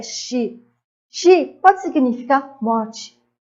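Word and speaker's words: 四: O quatro em japonês é X.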